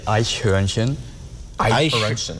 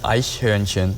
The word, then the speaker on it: Eichhörnchen: You would say Eichhörnchen. Eichhörnchen? Yeah, Eichhörnchen. It's like you're not even forming. So we lost like 6 letters in there.